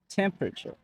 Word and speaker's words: temperature: Yeah, so some people might say temperature. They might pronounce the whole word, like all Yeah. the letters. That's But true. some words we don't pronounce all the letters.